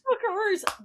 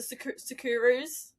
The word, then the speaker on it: Socceroos: Socceroos. Dude, that one British reporter was like the Sakaroos. Sakarus.